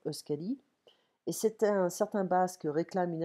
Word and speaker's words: Euskadi: Je ne parle pas le basque, donc j'espère que je le prononce bien, Euskadi.